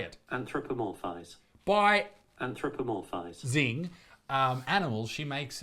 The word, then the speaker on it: anthropomorphize: Anthropomorphize.